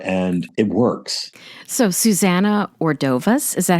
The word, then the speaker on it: Ordovás: So Susana Ordovás, is that how you pronounce her last name? Ordovás.